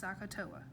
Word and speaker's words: SOHCAHTOA: So you pronounce this SOHCAHTOA.